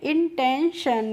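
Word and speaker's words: intention: तो ये हो गया इंटें और टी आई ओ एन का प्रोनाउंसिएशन होता है सन। तो इसको पढ़ते हैं इंटेंशन।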